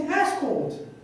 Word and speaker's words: escort: But it's just instead of stressing on the first syllable, I put the stress on the second syllable.